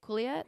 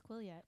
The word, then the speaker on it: Quileute: Because they also, for everyone else in the Quileute, how do you say it, Quileute? I think it's Quileute.